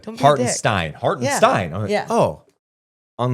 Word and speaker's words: Hartenstein: Hartenstein. Oh, on the pronunciation guys says Stein. Yeah. And a lot of people did Steen Stein. It's It's Hartstein. It's Hartenstein. So shout out to that IG content.